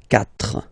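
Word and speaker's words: quatre: Okay, so you get this Q-U-A, but then the sound that you will pronounce is K. Okay, 4.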